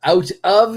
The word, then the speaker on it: out of: So out of is the original way to write it, but as DXT is going to say here, the pronunciation is going to be outa.